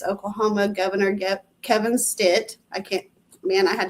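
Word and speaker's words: Stitt: to look it up it's Oklahoma governor Kevin Stit I can't man I had to make myself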